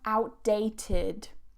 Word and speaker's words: outdated: And the last one, outdated. Outdated. So notice that I don't pronounce that T. I don't say outdated. Outdated. I release it on that duh.